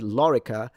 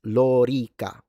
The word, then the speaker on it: lorica: And if you read it lorica, it's incorrect. It's lorica. Both the O and the I are long when it comes to phonemic vowel length in Latin. So the correct pronunciation in Latin, in English, you can say whatever you want. But in Latin, it's lorica.